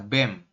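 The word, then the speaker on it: 뱀: BEM Kay gini ya dibacanya adalah BEM bep di awal dibaca B kemudian ini ada ae Nah ini kan a ya teman-teman huruf e vokal rangkap kemudian diakhiri dengan mem dibaca m jadi kita Bacanya adalah BEM seperti itu oke ada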